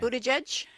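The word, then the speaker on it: Buttigieg: Buddhaj and Bernie Sanders with the most votes after lengthy delays and irregularities in reporting uh results.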